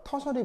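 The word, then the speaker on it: tertiary: 하나, 둘, 세 개가 있으니까 3차인데 그걸 읽을 때 뭐라고 읽는다고요? 터셔리.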